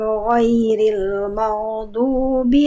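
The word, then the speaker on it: غَيْرِ الْمَغْضُوبِ: Goin, huruf goin jangan sampai agak memantul, jangan sampai memantul goin sukunnya. Ya, udah. Coba Bunda ikuti saya dulu deh. Kita latihan bagian ini ya. Ghairil maghdubi.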